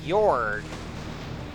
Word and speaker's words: Gyorg: So yeah, as a matter of fact, I think it is pronounced Gyorg. So yeah, I think I'm starting to realize that I do believe the G is supposed to be silent in the name.